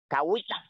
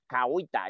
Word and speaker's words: Cahuita: It's a national park, and you pronounce the name good. Cahuita, Cahuita.